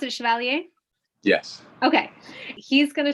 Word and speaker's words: Chevalier: Do you pronounce it Chevalier?